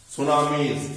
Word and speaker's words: tsunamis: It causes floods, tsunamis, NAMIS. Su. T is silent. It starts with T. SUNAMIS. Tsunamis.